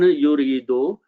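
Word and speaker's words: يريد: When you stop, we pronounce yurid, whom he intends.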